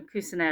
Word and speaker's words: Cuisenaire: And I apologize if I've said his name wrong there. Um his first name. I know Cuisenaire is right.